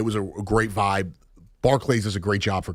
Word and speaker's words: Barclays: Barclays. Barklay. It's like Charles. Barclays. Like Charles. Barclays. Like Charles. Charles Barkley. No, no, no. That's Barkley. That's how you pronounce it.